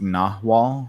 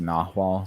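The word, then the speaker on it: nagual: um so I have uh okay so it's pronounced nawal so I'm going to make sure it's it's it's uh spelled n-a-g-u-a-l but it's pronounced nahwa so I have to remember that um but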